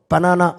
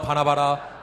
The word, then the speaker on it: 바나바: 여러분, 바나바를 부를 때 발음을 잘 하셔야 됩니다. 바나바입니다. 또 바나나 그러면 안 됩니다. 자, 사도행전 4장 36절로 37절을 한번 보십니다. 시작. 구브로에서 난 레위족 사람이 있으니 이름은 요셉이라. 사도들이 일컬어 바나바라 번역하며 위로의 아들이라 하니 그가 밭이 있음에 팔아